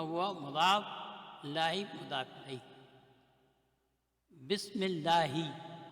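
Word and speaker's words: بسم الله: Bismillahi, over here this Hamzatul Wasl is not pronounced, so we pronounce Bismillahi.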